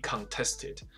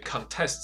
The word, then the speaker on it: contest: 当然也有很多其他的奇怪的一些理论，有一些呢 hardly contested. 所以 contest 这个字，我当然也可以念成 contest.